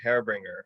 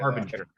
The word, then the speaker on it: Harbinger: What inspired the album Hairbringer, or however you say that? Harbinger. Harbringer. Yeah, I butchered it.